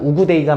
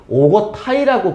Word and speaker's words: 우구데이: 그래서 그 뒤를 이어서 테무친의 셋째 아들이었던 오거타이, 원래 발음은 우구데이가 맞는 발음인데요. 수능특강 교재 보면 우구데이라고 하는 표현도 있을 거예요. 몽골식으로 진짜 발음하면 우구데이라고 읽어야 하는데요. 그냥 우리나라에서는 너무나 많이 오고타이라고 발음했기 때문에 그냥 오고타이를 병행해서 쓰고 있는, 병기에서 사용하고 있는 겁니다.